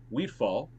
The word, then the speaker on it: Wheatfall: So it's Keurig Wheatfall, an undrafted free agent. Oh, it was say it again. Wheatfall, right? Right, Wheatfall, right. Wheatfall. It's spelled like you would think.